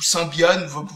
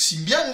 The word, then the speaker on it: Symbian: domaine il y avait sybian ou sbian sybian non ça ça risque pas de se prononcer comme ça même en français même pour un Français qui a vraiment envie de déformer tous les mots je pense pas que quelqu'un s'amuse à prononcer ça sbian enfin bref qu'est-ce que